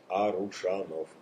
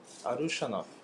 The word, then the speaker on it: Arushanov: Arushanov. Arushanov.